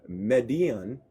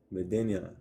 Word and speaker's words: Medina: The black person's village, the uh Median. Median. Median. How do you say that word? Medina.